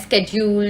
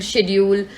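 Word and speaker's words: schedule: So guys, अक्सर आपकी pronunciation भी मैंने बहुत बार नोटिस किया स्टूडेंट्स करते हैं स्केड्यूल, शेड्यूल, तो शेड्यूल भी सही शब्द है और स्केड्यूल भी सही शब्द है। एक अमेरिकन एक्सेंट है और ब्रिटिश एक्सेंट है, सो बोथ आर करेक्ट।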